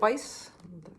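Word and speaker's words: Wyss: Robinson and that's by uh it's Johan David Weiss that's how you pronounce it um well a nice nice little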